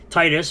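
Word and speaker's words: Tidus: Taylor who is the English voice actor of Titus from Final Fantasy 10 yes that is the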